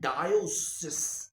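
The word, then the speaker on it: diocese: सी ई एस ई डायोसेस डायो सस ऐसे करके बोल रहे हैं तो करीब करब पूरी दुनिया में बेटा जानते हो कितने डायोसिस हैं 3000 डायोसिस है तकरीबन तकरीबन 29990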